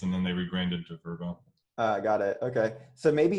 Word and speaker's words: Vrbo: I was saying VRBO, and was it VRBO? Is it correct? They rebranded, so yeah. Okay, cool. Called VRBO. Yeah. Vacation rentals by owners, and then they rebranded to VRBO.